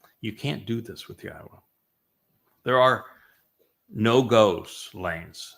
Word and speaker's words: Yahweh: And they changed Yahweh's name, which is clearly pronounced Yahwa based upon Torah, based upon Haya, to Yahweh.